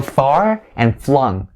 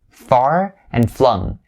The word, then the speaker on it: far-flung: get used to it so far and flung far and flung so make sure for the first syllable you know that it has the r sound not the or sound so don't say four but say far and then the second one is going to be flung flung it has the